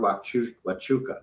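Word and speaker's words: Huachuca: And um so let's remember sad you know stomach turning but um the whole nonsense about Fort Wu Wuka which is spelled nothing like what it sounds like um is um is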